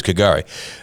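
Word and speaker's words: K'gari: But Kagari. Yeah, Kagari. There you go. So it's Kagari.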